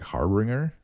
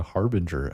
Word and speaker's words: Harbinger: I kept pronouncing it like Harbringer cuz they bring things. They bring tidings. So I was trying to look it up and it kept autocorrecting to Harbinger.